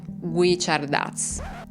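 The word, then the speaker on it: Guichardaz: secondo loro è il vero assassino, ovvero Ulisse Guicciardaz. Si pronuncia così, Elisa, che sarebbe il loro vicino di casa.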